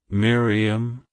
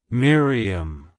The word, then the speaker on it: Miriam: beloved it's pronounced as Miriam Miriam Miriam to pronounce it correctly emphasize the first syllable my followed by a short re and ending with um like hello Miriam goodbye